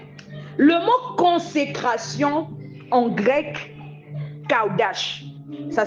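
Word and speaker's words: qadash: Le mot consécration en grec, kaudash. Ça s'écrit Q-A-D-A-S-H.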